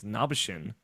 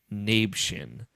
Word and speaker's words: Nabeshin: That's Nabishin 186. That's how it's pronounced. Not Nabshin.